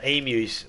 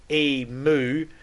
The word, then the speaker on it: emu: care about how um emus said because it's emu it's we actually pronounce the U on the end of it so it's you but the amount of people that'll say e moo it's like where's the